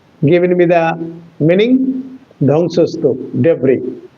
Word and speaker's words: debris: Yes, Sunil Babu has given me the meaning, dhangsastup, debris. But the pronunciation should be debris, not debris. It is a French word.